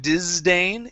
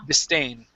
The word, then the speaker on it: disdain: I remember okay disdain so this s instead of being disdain it's dis unvoiced s disdain disdain dis good all right nice